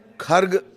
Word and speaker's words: खर्ग: खर्ग द्वीप के बारे में थोड़ा सा जान लीजिए। कई जगह ऐसे खार्ग आप सुनेंगे, कई जगह खार्ग सुनेंगे। ये प्रोनाउंसिएशन के उच्चारण, तलफ़ुज़ के लिहाज से अलग अलग है।